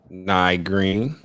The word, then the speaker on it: Ny'Zhea Green: major everything everything so my guess today is nigh green do i just pronounce it right yes okay um so tell